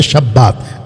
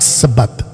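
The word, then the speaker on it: Shabbat: खतना, शब्बात, हालांकि इसका राइट प्रोनाउंसिएशन है शब्बात, नॉट सबत के शब्बात।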